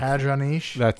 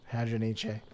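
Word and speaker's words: Hadronyche: I don't think Hadroniche. That sounds too French. Hadroniche. Yeah, I think you need to pronounce the E. Hadroniche.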